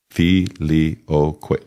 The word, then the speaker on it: Filioque: Fi-li-o-que. Four syllables.